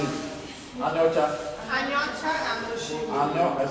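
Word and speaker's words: Aniocha: So how do you pronounce it? Anyocha.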